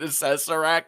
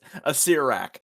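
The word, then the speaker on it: Acererak: You said Assessorak, and it's a Sirak.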